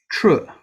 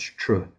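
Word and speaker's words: trö: It's a Tibetan sound that you can't really put into English. Tr is kind of a T and not a T, and the kind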